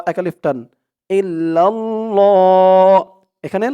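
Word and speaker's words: إلا الله: শব্দটাকে ল বলতে হবে আল্লাহ শব্দের ডাইনে জের থাকলে লা উচ্চারণ হয় আর জবর অথবা পেশ থাকলে ল উচ্চারণ হয় ইল্লাল্লাহ হা পেশ হু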